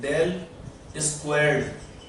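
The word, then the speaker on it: ∇²: ये क्या है, यहाँ पर क्या है, एक्स वाई जेड क्या है, स्पेस कोऑर्डिनेट्स, और इसे क्या बोलते हैं, प्रोनाउंस एज डेल स्क्वायर्ड।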